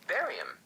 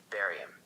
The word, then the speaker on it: barium: Barium. The 56th element is barium. Barium sounds like bury him.